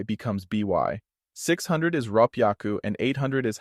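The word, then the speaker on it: 六百: becomes by 600 is rap yaku and 800 is hapiaku these use double consonants to change h y to ppy so 342 is pronounced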